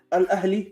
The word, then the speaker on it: Al Ahli: You know, Al Ahli is the blue team that they lost today.